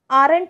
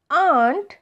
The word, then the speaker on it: aren't: आरंट ऐसा नहीं बोलते हैं, इसका करेक्ट प्रोनाउंसिएशन है आंट.